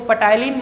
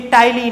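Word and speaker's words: ptyalin: जो पहला एंजाइम है टाइलिन, टाइलिन की स्पेलिंग पी से चालू होती है, इसलिए इसको पटाइलिन मत बोलिएगा, ये टाइलिन है।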